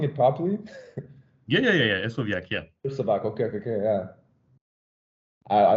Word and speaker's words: Hersovyac: Am I even pronouncing it properly? Yeah. Hersovyac, yeah.